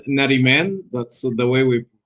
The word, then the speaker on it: Nariman: It's Nariman. That's the way we pronounce Nariman.